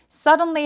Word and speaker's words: suddenly: Suddenly 할 때 갑자기란 뜻이잖아요. 근데 suddenly 뒤소리 그냥 내셔도 되고요. suddenly 하면서 약간 굴리는 느낌이 나도 괜찮습니다. suddenly. Suddenly 맨 마지막에 l 소리를 또렷하게 내주는게이 발음의 포인트기도 해요.